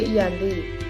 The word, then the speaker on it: Giyanti: Dalam pelafalan Belanda, ia tersebut sebagai Iyanti, dan secara tertulis, ia terbaca sebagai Giyanti. Tempat tersebut sekarang dikenal sebagai Dukuh Kerten, Jatiharjo, Karanganyar, Jawa Tengah. Perjanjian Giyanti sendiri dibuat dalam rangka